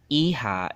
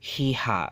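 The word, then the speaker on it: hija: So iha is not hiha, right? For example, iha is not pronounced as hiha, right? This is a good word to have a pronunciation with. So the pronunciation H is always silent, but the J makes the ha sound.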